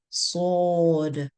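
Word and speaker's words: صاد: And then we have sword. Sword. You pronounce this letter like you're whistling.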